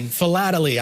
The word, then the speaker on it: Philately: The collection, study, and research of postage history, Jeff, do you know how to pronounce this word? Philately? Philately.